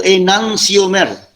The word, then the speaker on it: enantiomer: dengan istilah Inang xiaomers itu tulisannya Teh nanti omer Tapi bacanya itu enantiomer Hai Mbak Inang Summer